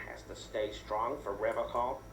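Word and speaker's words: Revachol: But someone has to stay strong for Revocol. He pronounces Revocol with a hard K.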